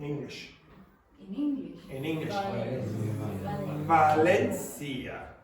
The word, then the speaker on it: Valencia: Valencia. That's how we would say it.